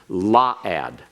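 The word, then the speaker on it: לָעַד: La'ad or excuse me, let's get the the pronunciation correct on this. La'ad.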